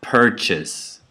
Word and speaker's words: purchase: The last syllable is unstressed now, and the first syllable is stressed. So I would say purchase, carrot, minute.